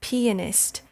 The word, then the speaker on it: pianist: player right now because the actual word to pronounce the person who plays a piano is a pianist. And I just don't like the sound of that. You have to put the emphasis on the P part of the word.